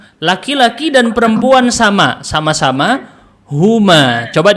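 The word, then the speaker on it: هما: untuk yang jumlahnya dua untuk yang jumlahnya dua Bacanya apa ini Huma Huma laki-laki dan perempuan sama sama-sama Huma coba diucapkan Huma Huma Oke Huma Baik nanti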